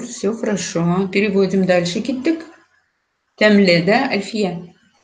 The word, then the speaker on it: тәмле: Нет, Может, это просто произнос так, может... деревняк, деревенский вот такой говор. Темный, темный. Так быстро говорят, ой, темный, темный. Нет, темле.